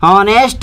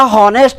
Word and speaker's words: honest: जैसे कि समझते हैं आगे, मान लीजिए HONEST, ऑनेस्ट मैन, ऑनेस्ट मैन। तो ध्यान दीजिए इसका उच्चारण मतलब एच से तो ह होता है बट इसका हॉनेस्ट नहीं, ऑनेस्ट होता है, आ से ऑनेस्ट, ऑनेस्ट होता है।